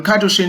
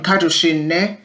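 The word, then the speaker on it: Kadushin: supervision according to the katushin model for supervision cartoon is spelled k a d u s h i n cartoon the administrative aspect the educational aspect they're supposed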